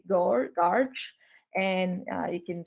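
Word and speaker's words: GOARCH: We pronounce this as Goose. And this is the Go architecture, but we say Garch.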